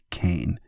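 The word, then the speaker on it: Qayin: a pseudonym his his the name he goes by is s ben kane but kane is spelled q-a-y-i-n are these the same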